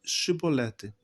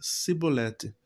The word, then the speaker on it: chibolete: não então lhe diziam dize pois chibolete porém porém ele dizia sibolete porque o não podia pronunciar assim bem então pegavam dele